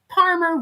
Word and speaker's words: Parmer: And remember, Parmer rhymes with farmer, but starts with a P like Paul.